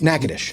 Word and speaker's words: Natchitoches: Natchitoches.